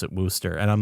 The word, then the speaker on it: Worcester: It's w o r c e s t e r and they pronounce it Wooster. Yeah, Wooster.